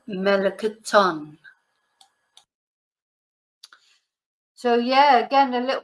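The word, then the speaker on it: melón: peach the peach L melon notice where the accent is L melon so yeah again a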